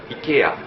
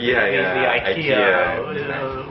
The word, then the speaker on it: IKEA: I’ve heard that the original name is Ikea (ikea) but Americans we pronounce it Ikea (aikia).